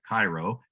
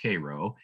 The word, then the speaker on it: Cairo: This is the town of Cairo, Illinois, spelled like the city in Egypt, Cairo, but it's pronounced Cairo.